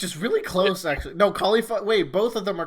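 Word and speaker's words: Kalifa: It's Khalifa. Oh. Which is really close, actually. No, Khalifa.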